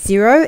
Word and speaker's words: Xero: least at the moment is zero x e r o is how it's spelled you will have seen